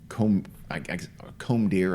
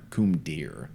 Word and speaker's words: Combadière: Basically, it means the Combadière State Forest Road. And Combadière is like kind of like pronounced comb deer or coom deer, like the last word is deer, but it's D''IR.